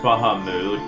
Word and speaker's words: Bahamut: he's Bahamas yep I know it's technically pronounced Baha mood but I don't think anyone pronounces it by worry so Bahamut law